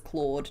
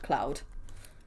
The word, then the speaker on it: Claude: And I'll make sure that I include the fact that I'm pronouncing it as Claude, not Cloud.